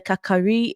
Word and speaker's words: Kakari: G, and the Kakari is spelled Kari Kari, but we say Kakari.